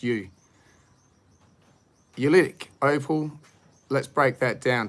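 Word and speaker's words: oolitic: opal this is ulitic It's o-o but it's pronounced you eulytic opal let's break that down take the opal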